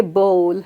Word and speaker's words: bowl: When you say bowl, remember rock and roll. All you have to say is bowl will roll like rock and roll.